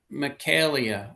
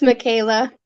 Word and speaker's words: Michaela: Michaelia, I hope I pronounced your name right. I probably didn't. It's Michaela.